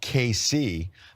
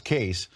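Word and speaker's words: Cayce: And I'm noticing on social media, a lot of people tweeting us that it's pronounced KC. We were initially told that it was Case.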